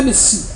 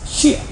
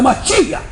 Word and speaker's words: Mashiach: Não é Messias, Mashiach. Isso pronuncia errado. É Mashiach.